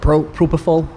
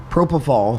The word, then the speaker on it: propofol: Don't you find that bizarre that Michael Jackson was addicted to how do you pronounce it? Propofol. Propofol.